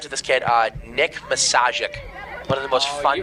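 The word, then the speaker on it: Misiaszek: baseball good friends with this kid uh Nick massic one of the most fun names ever gotten to pronounce m i s i a s z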